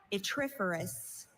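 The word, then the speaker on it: yttriferous: Your word is atiferous. May I have all the information? Itiferous. There are no alternate pronunciations.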